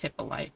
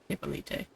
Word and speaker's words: Hippoly: It's Hippoly, not Hippolite.